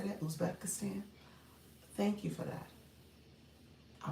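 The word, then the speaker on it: Uzbekistan: Ubeistan. Did I say that? Usbekistan.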